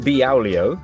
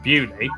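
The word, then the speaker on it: Beaulieu: Starting in Biaulio, Bewley, head over to Rampisham, Ransom, then down to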